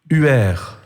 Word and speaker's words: Ur: une question géographie et la prononciation est différente il venait dur ur le NRE se dit heure parce que tout ce